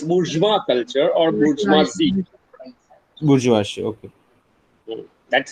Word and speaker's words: bourgeoisie: bourgeoisie. Okay. That's how it's pronounced.